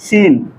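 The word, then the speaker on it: scene: य सीन अच्छी है एस सी ई एनई सीन मीस क्या होता है दृश्य सीन मीस क्या होता है दृश्य ध्यान दीजिए तो यहां भी हमारा क्या है सी क्या है साइलेंट है तो आपको यह बात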